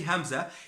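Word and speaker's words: ء: how to pronounce the Hamza, you can pronounce a great deal of words in Arabic. So the Hamza, it's as if you are stopping on a syllable.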